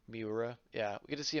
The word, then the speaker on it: Miura: How do you pronounce his name? Miura. Miura.